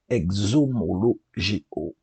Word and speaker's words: exomologeo: Alors, confesser vient du grec exomologeo. Désolé pour la prononciation, mais ça s'écrit X-O-M-O-L-O-G-E-O. Il y a beaucoup de O, bien sûr.